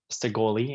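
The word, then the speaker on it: Shekoli: you hear me say sigoli and you see it spelled like s-h-e-q s-h-e-k-o-l-i the K being like a g like uh gun olympua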